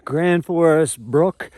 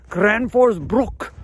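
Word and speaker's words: Gränsfors Bruk: axe there you go did i say that right for you guys guys will get mad if you don't say it right kranford's brook i get in trouble for saying brooks oh the purist it's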